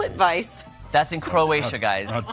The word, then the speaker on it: Plitvice: Plitvice. That's in Croatia, guys. That's Plitvice.